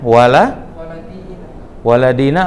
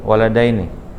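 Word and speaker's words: وَالِدَيْنِ: hai Hai berisik bacanya walla walla Dina atau walidaini Ya udah Assalamualaikum walet Day night yang betul walidaini hahaha apa tanda nasob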